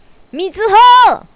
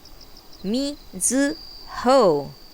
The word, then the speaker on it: Mizuho: years of elementary school me zu ho they would say stretching out the last syllable for emphasis i like it weather